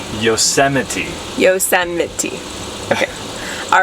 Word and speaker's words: Yosemite: We are in beautiful Yosemite Valley and Am I saying it wrong again? I it sounded weird. Okay, Alex keeps saying I'm saying Yosemite wrong. Maybe you did it again wrong. Okay. Yosemite? Yosemite.